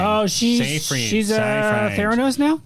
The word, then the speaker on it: Seyfried: Amanda Siegfried. Amanda Seyfried? Seyfried. I have no We'll idea how to never pronounce her last know. name. Oh, Seyfried.